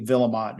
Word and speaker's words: Vuillemot: very very French though we do not pronounce it like the French so more of a a Washington um Americanized pronunciation where Ward's joining us